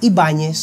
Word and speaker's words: Ibáñez: A sua origem, e daí o nome Ibáñez, do país de nossos hermanos, por isso é que eu pronuncio Ibáñez.